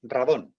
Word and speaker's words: radón: nunca de radón vale se dice radón se escribe radón con acento en castellano no dragón